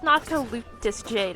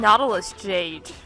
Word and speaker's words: Noctilucous Jade: I can't believe it's pronounced Noctilucous Jade. I've been saying Nautilus Jade for like forever. But it's Nautilus?